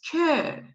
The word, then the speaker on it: que: We don't have any problem with Q, but you need to know that most of the time you have U after Q, but you don't pronounce it. It is ki. It is que. It is quel. So we don't pronounce U at the end.